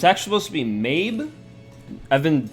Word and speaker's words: Medb: It's actually supposed to be Mabe. I've been saying Medb because I didn't piece two and two together like, oh, the D is probably silent.